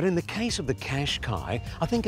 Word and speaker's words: Qashqai: But while the Qashqai, because that's how you pronounce it, might have a confusing